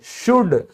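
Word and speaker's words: should: चाहिए शुड, तो आपने कभी ध्यान दिया कि ये एल बोला ही नहीं जाता। तो चाहे शुड हो, आपका कुड हो, आपका वुड हो, हर जगह क्या है? एल आपका साइलेंट है।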